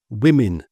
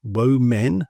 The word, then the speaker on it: women: Then if we take the plural, we change it completely and we make that women, not wo men, but women. They both sound like an I.